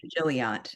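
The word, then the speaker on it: Gilliatt: I'll have Shoshana correct pronunciation, but I've been calling him Gilliot in my mind. Is that the correct Oh, pronunciation? Yeah, I think Jilliet's right.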